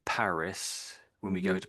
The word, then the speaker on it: Paris: When we go to Paris, say Paris. But the French, of course, say Paris, Paris. So we pronounce the S on the end, but the French just don't say the S.